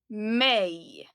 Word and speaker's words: mig: And here, pay special attention to the pronunciation because they're a bit different from the spelling. Mig, mig, dig, dig, honom, honom, henne, henne, den, det.